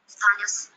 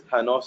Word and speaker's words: Thanos: Now if I click on Thanos, Thanos, it speaks out the word wrongly. The actual pronunciation is Thanos. It is not Thanos.